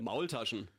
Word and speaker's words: Maultaschen: It's like an egg pasta dish, Maultasch or something like that. Maultaschen.